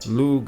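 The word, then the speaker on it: Lugh: But in modern Irish, Lug is pronounced simply Lu.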